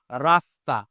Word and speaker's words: রাস্তা: বললাম এই যে উচ্চারণ যুক্ত অবস্থায় ত আছে এই যে ত যুক্ত অবস্থায় আছে কার সাথে স এর সাথে তার মানে এর উচ্চারণ আর তালব্য হবে না এটা হবে রাস্তা আবার আমি বললাম এই